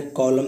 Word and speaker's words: column: आपने कॉलम सुना है गाइस, COLUMN। यहाँ पे लिखा है एम के बाद अगर एन आए देन एन साइलेंट होता है। जैसे कॉलम यानी कि खंबा, कॉलम जो खींचते हैं उसे बता सकते हैं।